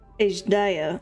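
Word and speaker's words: Azdaja: toward that war-torn land along with my sibling ashdaya ish Daya okay that's how that's pronounced for Ashley we dragons are not male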